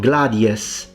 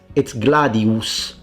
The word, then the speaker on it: gladius: Another very important one for angophone speakers, work on your oo. It's not gladius, it's gladius. It's a fully pronounced oo always.